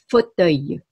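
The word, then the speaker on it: fauteuil: これを、フォトイユ、フォトイユというふうに言います。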